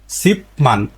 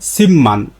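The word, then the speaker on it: 십만: স্বাভাবিক উচ্চারণ কি সিমান সিপমান কিন্তু এর সঠিক উচ্চারণ হচ্ছে সিমমান সিমমান বাদমে বিউপ পাইছি তাহলে বিউপের পরে মিউম পাইছি তাহলে রুলসের নিয়ম অনুযায়ী বিউপের উচ্চারণ ম হবে বিয়পের উচ্চারণ ম হবে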